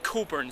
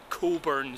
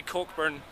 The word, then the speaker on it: Cockburn: sped cockburn street but it's pronounced as a local would say Coburn Street so just say where is Coburn Street and you'll be fine if you say cockburn you'll get giggles this